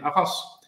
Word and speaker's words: Arras: And Arras, I learned then that you have to pronounce the last S. If you don't, people do not know where you are.